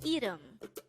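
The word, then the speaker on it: 이름: is Edo again it's Edom this is pronounced as a two-syllable word the first syllable is pronounce it with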